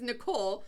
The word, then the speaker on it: Nicole: your name I'm like nickel Christ my god wow and I said it's Nicole but I said nickel nickel how